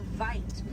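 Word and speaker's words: wyd: Original word for white rhino was vite. Vite means wide in Afrikaans, but over time it was misheard and mispronounced and it turned into the white rhino.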